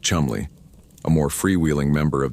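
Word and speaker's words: Cholmondeley: The second is Flight Lieutenant Charles Cholanderly, pronounced Chumley, a more freewheeling member of the RAF intelligence service.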